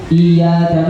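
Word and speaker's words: إياك: Kalau ini diganti iya tanpa tasdid, dalam riwayat lain seperti halnya gini ditujukan kepada matahari. Bahaya ya. Iyyaka na'budu wa tanpa tasdid. Iyyaka na'budu wa iyyaka nasta'in tanpa tasdid, hati-hati.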